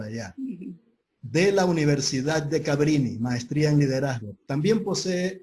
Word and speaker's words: Cabrini: ¿Así es, Aide, o estoy pronunciando mal? Cabrini, No, ¿no?